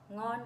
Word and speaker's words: ngon: Ngon quá. Ngon. Ngon. Oh, perfect. Perfect pronunciation.